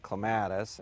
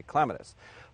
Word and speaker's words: clematis: North tend to say clematis and a lot of gardeners in the south tend to say clematis both are accepted pronunciations in the horticultural world so I think one